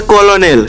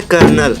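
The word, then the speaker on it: colonel: जरा यह वर्ड पढ़ो। दिखता है कॉलोनियल। लेकिन बोला जाता है कर्नल और यह कोई अकेला मामला नहीं है।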